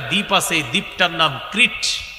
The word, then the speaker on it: ক্রিট: আছে, এই দ্বীপটার নাম ক্রিট। কি নাম? ক্রিট বানানটা আমি বলি, ক্রিকেট আছে না, ক্রিকেট। এই ক্রিকেটের কয়েকারটা ফালাইয়া দেন, ক্রিকেট কয়েকার ফালাইয়া দিলে কি থাকে? ক্রিট।